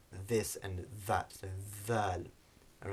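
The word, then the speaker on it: ذال: So the dhal, as we've now mentioned a few times, is the voiced English TH, so it's a buzzing sound, produced in words like this and that, so dhal.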